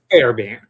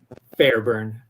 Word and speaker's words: Fairbairn: Fairbairn. ¿Ya lo escuchaste? Fairbairn. Fairbairn. So not Fairburn or Fairbairn, but Fairbairn. Que me disculpe la audiencia hispana. ¿Cómo sería, Tony? Fairbairn.